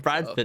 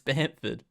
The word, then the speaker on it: Bamford: Yeah, Yeah, it's not Bradford, it's Bamford.